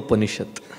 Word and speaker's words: Upaniṣad: So this is called Burrito Upaniṣad. We'll get to the essence of happiness through burrito. That's how you have to pronounce it, I was told.